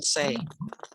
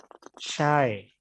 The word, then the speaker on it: shy: I am say. Shy. Hi. Pemalu ya? Shy bacanya. Yes.